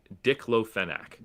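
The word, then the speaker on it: diclofenac: DLON Hold on let me make sure I've pronounced it right. It is Dickloac.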